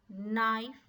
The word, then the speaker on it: knife: group of words is knife not no here silent letter is k with sound ka next